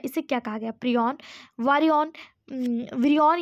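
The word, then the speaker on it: prion: सही उच्चारण करें तो ये प्रयन है।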